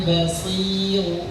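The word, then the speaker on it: بصير: Karena harakatnya sebelumnya kasrah pada huruf shad, maka rnya itu harus tipis. Wal basiru basiru ru tipis. Bukan ru ru bukan tapi ru biasa biru walladina amanu.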